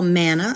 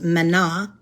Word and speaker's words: manna: Now, God, as you know, gave them what we call manna. I think it probably should be pronounced manna in the Hebrew, but it was the